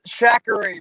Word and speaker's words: Shakari: Shatori. Did I say your name correctly? Yeah, it's close enough. How do you say it? The correct way is Shakari, but I was always